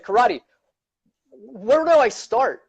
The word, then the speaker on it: Kerati: you say your name by the way just karate just come on he's fine so our karate